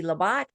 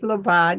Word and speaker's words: Labat: streaming production of financial cures with Dr Wendy labot I was saying your name wrong incorrectly wasn't I you were being so polite laot right it's leot yeah thank you I'm sorry an esteemed entrepreneur